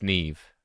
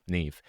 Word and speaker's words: Neve: And by the way, how you pronounce it is like leave or weave, right?